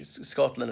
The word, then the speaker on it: Scotland: to the letter s pronounce the s first don't add an invisible e there is no e in the word a Scotland or a Scottish Scotland and Scottish so people